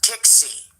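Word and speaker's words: Tiksi: well pull this up this is ticks ticks key or ticks see is how they pronounce it here's Alaska here's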